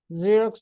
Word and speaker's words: Xerox: consonant sound a you fism because this is pronounced as you a xerox machine Z zerox because this is the like a z sound